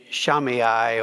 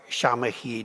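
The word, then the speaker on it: Shammai: of a man named shamiyah or shamahi depending on which pronunciation you follow and shamahi was the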